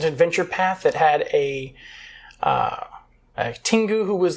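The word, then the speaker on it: Tengu: Tingus?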